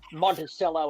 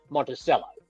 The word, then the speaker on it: Monticello: well for broadcasting purposes, because Monticello and Monticello are both accepted pronunciations, and the word came back from Heath Monticello, for what it's worth. So that's what I'm going to be calling the horse.